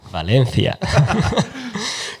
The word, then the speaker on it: Valencia: Do the Spanish pronunciation. Valencia.